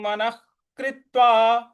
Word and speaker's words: मनः कृत्वा: और विसर्ग जो है उसके आगे, विसर्ग के आगे क है तो वहां पे ख का उच्चारण लाएंगे।